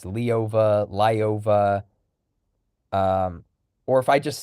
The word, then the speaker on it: Lyova: yeah, So I would probably pronounce it as Lyova with the yaw with the two dots over the e.